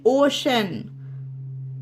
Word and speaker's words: ocean: उसी तरह से next example OCEAN ओशन, OCEAN ओशन, ठीक है।